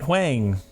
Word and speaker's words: Huang: So now I know how to pronounce it. Huang.